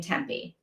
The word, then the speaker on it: Tempe: Gabby is definitely dead, and Tempe, is her name pronounced Tempe or Temp? I think it's Tempe, like Tempe, Arizona.